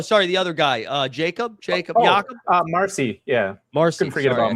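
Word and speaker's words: Marsee: What's the pronunciation? Owen Casey. No, sorry, the other guy. Jacob. Marcy.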